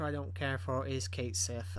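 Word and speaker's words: Cait Sith: for is Kate Sith I know that's not how you pronounce his name at least not um according to the Japanese Lang uh Japanese dictionary or whatever but that's how I think everyone pronounced it as Kate s uh is essentially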